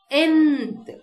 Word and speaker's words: nth: Though we have used the letter N here, it is pronounced nth. So it starts with a vowel sound.